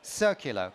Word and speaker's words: Circular: chief future officer for circular pronounced with an S and not a c at the beginning great um our third